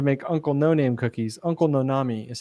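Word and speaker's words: Uncle Nonamé: went on to make Uncle noname cookies uncle nonami is how he pronounced it because the company bought his brand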